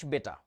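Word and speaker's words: beta: What is এইচ বেটা? উচ্চারণটা বিটা না, বেটা।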